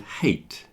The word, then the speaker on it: hate: words like height and hate. So height, you have a fear of heights. That word is pronounced height. If you dislike something, the word is hate. I hate spiders, for example. Height, hate. And while we're doing this,